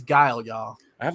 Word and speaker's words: Guile: i'm like it's like it's like guy but with the l like how do y'all miss that they were called ghoulie or something it was just it was just crazy i'm like it's guile y'all i have like